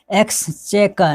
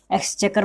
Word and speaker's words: exchequer: इसमें जो है क्यू का उच्चारण क के रूप में हो रहा है, हमेशा आपको ध्यान में रखना है।